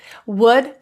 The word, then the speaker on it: would: Would, could, and should. Same with the L. We want to keep those L's silent.